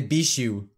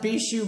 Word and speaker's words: Bijuu: let's just be honest no one knows how to say my name a lot of people say beasts you is that beat gel mark I love that be shoe Mike I'm not gonna